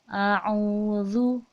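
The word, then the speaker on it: أعوذ: ini Zoo ya jadi membacanya itu a'udzu Ya zulina kita keluar ya dzal itu makhorijul huruf nya yaitu ujung lidah ke ujung gigi seri atas jadi ujungnya kita itu harus keluar sedikit lu lu bukan juya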